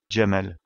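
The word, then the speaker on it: جمل: lettres de l'alphabet arabe pour indiquer la présence de la voyelle a on utilise un signe appelé fatha que nous allons placer au-dessus des lettres Jim et des lettres MIM pour prononcer le mot Jamal pour indiquer la présence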